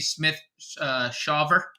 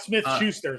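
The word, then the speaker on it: Smith-Shawver: -195 is AJ Smith Shawver is I think the correct pronunciation there. Not Smith Schuster, Smith Schaefer.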